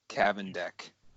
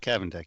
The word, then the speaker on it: Kavendek: And that is very special guest and friend, Kavendek. Kavendek, yep. You pronounced it correctly.